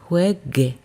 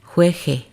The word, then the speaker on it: juegue: An example with gar, jugar, juegue, juegues. In this one, we're maintaining the G, the hard G. Because if we didn't have that GU, it would sound jueje.